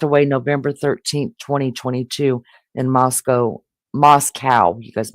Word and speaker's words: Moscow: November 13th, 2022 in Moscow. You guys make sure to say it right. Idaho. Moscow. That's the right way.